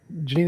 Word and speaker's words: Jeanine: how you pronounce your name that's how you pronounce it Janine it's nice to have you on really appreciate